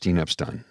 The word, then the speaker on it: Epstein: It's spelt Epstein, but often in the United States of America, in the Western culture, it's pronounced Epstein, much like Harvey Weinstein and not Harvey Weinstein. In Germany, you have Albert Einstein, not Albert Einstein, because it was German. So apparently it's Epstein in North America, Harvey Weinstein in North America.